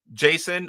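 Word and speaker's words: JSON: I do the best I can, but Luis G says in television gamer you can pronounce as Jason.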